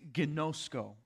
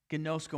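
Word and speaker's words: γινώσκω: going to but the the way it sounds is genosko gnosco and that means to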